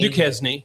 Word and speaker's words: Duquesne: Is it pronounced Duquesne? Duquesne.